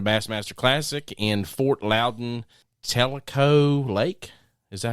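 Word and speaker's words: Tellico: year in a Bassmaster Classic in Fort Louden Telo lake is that how you say it yep Telo Lake Y and we got his name right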